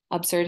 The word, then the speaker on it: absurd: an adjective absurd absurd absurd has two syllables obserd and it almost sounds like s-e-r-d serd absurd absurd means ridiculous